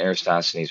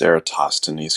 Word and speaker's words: Eratosthenes: So doing the Aristosthenes, or like using a sundial or whatever, but using a star instead of the sun. It would really help if you learned how to pronounce Eratosthenes correctly, but whatever.